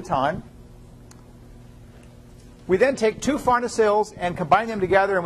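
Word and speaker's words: farnesyl: And Pharnacil pyrophosphate is spelled F-A-R-N-E-S-Y-L.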